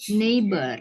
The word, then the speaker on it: neighbor: Neighbor, ya Tetangga. bacanya neighbor. Oh iya. They are my neighbor. Neighbor. Jadi GH-nya nggak dibaca ya, Kak.